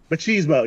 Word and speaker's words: Machismo: Macho 40 Grays for 40 Guns, 1971, aka Return of the Wild Bunch. Oh, Machismo. Machismo, yes.